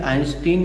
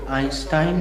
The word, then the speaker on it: Einstein: Actually, Einstein is Indian pronunciation, but Einstein is the correct pronunciation.